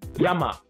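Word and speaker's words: 山: other kanji around it it is read as Yama when a kanji is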